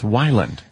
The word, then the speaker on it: Weiland: But it's Weiland.